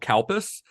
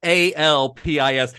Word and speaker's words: Calpis: When I wrote it down, I was like, the way that this is going to sound when an American pronounces it is that it's going to sound like cow piss.